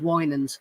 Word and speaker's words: Winans: about a man named Charles Winans, as I found out his name is pronounced.